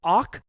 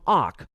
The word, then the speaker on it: awk: In this video, I'll demonstrate how you can use the awk command to extract data from a file or from the output of another command.